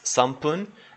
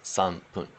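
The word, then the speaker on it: 三分: And the rule basically is, it's even just 3 minutes is sampun, and when you put it together with the 10 for the 13 minutes, ju is kind of the normal pronunciation. But then it still maintains as sanpun.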